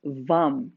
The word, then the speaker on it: vam: element is the water element the sound is vum spelled v-a-m but pronounced like vam with a u all right